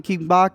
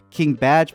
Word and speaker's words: King Bach: also stars King Bach, who I kept calling him King Bach. It turns out his name is King Batch, but look at how it's spelled.